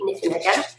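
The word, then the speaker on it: Niffenegger: that is the time traveler's wife by audrey niffen again that's how you say it and um that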